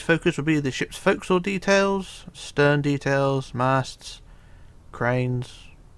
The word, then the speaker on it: forecastle: So what we're going to do first, we're going to focus on the forecastle area here on the front of the ship. And remember, it's forecastle, although it's spelled forecastle.